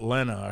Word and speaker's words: Lena: Apparently, he pronounces it Lena.